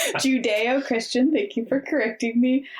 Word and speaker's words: Judeo-Christian: My point was like Jesus doing like katas and stuff in the front yard, just like Judo-Christian. Judeo-Christian, thank you for correcting me.